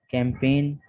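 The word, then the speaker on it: campaign: इसके बाद rule number 5 में है G is silent in the following words. दर्ज झेल अल्फाज में G साइलेंट है। Sign, कैंपेन, design, resign, अलाइन, foreign, foreigner, assign. ठीक है, और नोट करेंगे कि G के बाद N है, इन तमाम में G के बाद N आ रहा है, तो G के बाद जब कभी भी N आ जाए तो G साइलेंट होगा।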